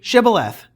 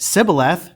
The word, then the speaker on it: Shibboleth: When he said no, they said to him, "Then say Shibboleth." And when he said Sibboleth, for he could not pronounce it right, they seized him and slaughtered him at the fords of the Jordan.